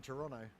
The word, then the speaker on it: Toronto: insight huh Toronto Toronto how many te's in Toronto just one just the one there's only one te in Toronto it's like Australians never